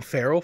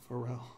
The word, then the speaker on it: Pharrell: It's pronounced for Pharrell. Pharrell? Did you call Wow. him Farrell for the longest time? Yeah, I've been so wrong this entire It's time. black. It's Pharrell.